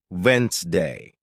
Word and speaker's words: Wednesday: For example, you might see the word Wednesday and think it's pronounced exactly as it's spelled, but listening teaches you it's actually pronounced Wensday.